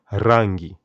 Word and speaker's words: rangi: rolling tongue and this is how you can pronounce the word color rangi the word news habari very important word to